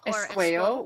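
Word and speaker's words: Esquao: Esqueo, which is the Cree word for woman.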